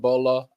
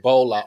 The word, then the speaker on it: Bola: Please take a moment and welcome Ola and Bolo Osundario. What's going on? Can you please say his name better? Hello. You said Bolo. Oh, no, I did not. I said Bola. Ola and Bola.